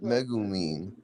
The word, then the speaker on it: Megumin: Megumin. Oh, JJK Modulo. Okay. Not Megumi. Me. I heard Megumi, bro. You You heard Megumi. I said I said Megumin or English, bro.